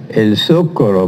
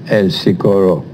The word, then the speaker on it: El Socorro: The proper pronunciation should be El Socorro, but nobody says that. Everybody says El Socorro.